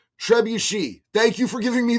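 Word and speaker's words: trebuchet: Uh Isabella Iron Blade, Isabelle Ironblade said, "Hey JD, uh Trebette is pronounced Trebuchi.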